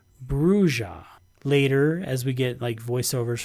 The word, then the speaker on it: Brujah: The key says it's pronounced Brujah.